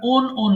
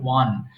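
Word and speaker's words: won: দেখিয়ে দিচ্ছি এক্ষেত্রে আমরা ওন বলি ওন হবে না এটার সঠিক উচ্চারণ হবে ওয়ান সো উইন মানে জয়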